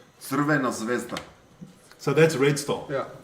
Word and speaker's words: Crvena Zvezda: Crvena Zvezda. Crvena Zvezda.